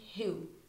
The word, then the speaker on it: who: beginning of the word so answer and who we have the two words with a silent W uh there are many